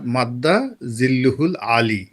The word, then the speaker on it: মাদ্দা জিল্লুহুল আলী: আরবিতে এটা হলো ওই যে দেখবেন যে অমুক হুজুরের নাম ধরেন হজরত আল্লামা খলিল শাহ। হুম, তো হযরত আল্লামা খলিল শাহ মাদ্দা জিল্লুহুল আলী এই হলো উচ্চারণ।